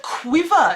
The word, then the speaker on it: quiver: So the word quiver, it's a bit of a tongue twister, but if you know that it's just 2 syllables, qui and va, then it's not so hard.